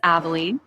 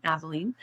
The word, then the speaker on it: Aveline: So my name is Aveline. If you can't remember it, I always tell people it rhymes with gasoline, trampoline, Aveline.